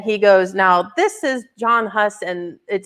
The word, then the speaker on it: Jan Hus: John Huss. Is that how you say it? John Huss? Okay. Jan Hus. It's like written weird. Yeah. Jan Hus.